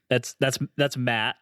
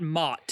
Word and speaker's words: Matt: That's Matt, right? Not a lot of people pronounce it that way, It's not Mott. It's Matt. Yeah, just the normal way.